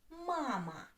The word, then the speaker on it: мама: The first word is mama. Mama. Mama. Two syllables. Where is the stress? Mama. stresses on the first syllable.